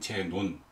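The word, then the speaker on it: Ζήνων: 다르게 보이죠 근데 이제 그리스어 이름 원래는 제논 마지막에 n이 붙어 있으니까이 한국어 발음 제논이 맞는 발음이고 라틴어로이 바뀌면서 바람이 떨어져 나간 거 같아요 그래서 제노가 되는 거죠 그래서 영어는 이제 라틴어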